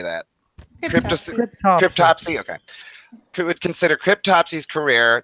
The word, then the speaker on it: Cryptopsy: Cryptopsy.